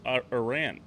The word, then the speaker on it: Iran: The bank was accused of helping Saddam Hussein hide Iraqi oil profits and backing Oliver North's arms deals with Iran. It's pronounced Iran.